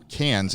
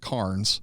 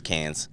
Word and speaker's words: Cairns: Cairns, yeah. But it looks like Carnes. Yeah, it's not Cairns. It's Cairns.